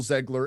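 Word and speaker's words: Zegler: But yes, it's all Rachel Ziegler and her behavior.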